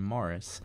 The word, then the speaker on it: Maurice: to pronounce maurice as maurice instead of the british pronunciation morris which is how they pronounce it in the film how dare you bully